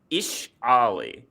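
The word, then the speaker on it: Ixalli: Ixali. According to this list, it says it's pronounced Ishali. I think the IXs are supposed to be pronounced as Ish.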